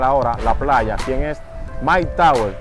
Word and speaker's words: Myke Towers: Pues su nombre proviene de una traducción de su nombre real, el cual es Michael Torres, al inglés, el cual se pronuncia Mike Towers.